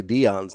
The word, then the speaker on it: Deion: So how do you say Dion's name?